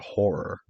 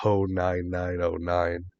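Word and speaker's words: Ho99o9: They played with Cypress Hill and this band Horror, which like it's like horror, but the R's are spelled with nines. And they actually talked about that for a little bit on stage. It was like, it's like, yeah, we're called Horror. We're not Ho 9909.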